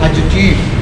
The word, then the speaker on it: adjective: D is silent. You have to read adjective.